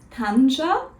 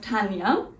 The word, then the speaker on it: Tanja: a che and so they thought it would be pronounced Tanja instead of Tanya and that is where